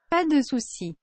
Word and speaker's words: pas de soucis: Pas de soucis.